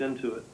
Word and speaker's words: Intuit: that's that's right that you said it right it's into it you know it's one